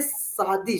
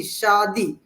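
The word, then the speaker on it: शादी: this word sadi, but when you told me like no, it's not the correct way to pronounce this word. It's a say sadi, shadi.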